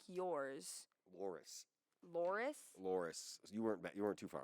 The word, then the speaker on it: Loris: Loris, R-I-S. Loris.